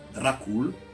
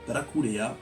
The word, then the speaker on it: Dracul: Son père était le dragon, lui était le fils du dragon, et en roumain, ça se prononce Dracul, ou Draculea, ou Dracula.